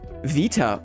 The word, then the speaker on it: beta: extraction itch until now technically beta would be pronounced Vita oh oh wow wow